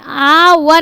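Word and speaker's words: hour: लगेगा एन ठीक है आवर इसको क्या पढ़ेंगे आवर हावर मत पढ़ लेना नहीं तो ए लगाना पड़ेगा यहां पे आवर पढ़ो आवर तो आ रहा है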